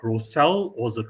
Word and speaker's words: Roselle: Please correct me if I'm pronouncing the name correct. Rosel or was it Rochelle? Roselle.